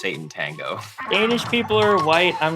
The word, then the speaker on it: Sátántangó: So when we pronounce the title for this movie, Oh, I've always just said Sátántangó, like it looks, he does this every time.